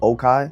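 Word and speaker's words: Les Cayes: Oh, you even got like Okai, but it's pronounced or it's spelled Lekai, but it's really pronounced Okai.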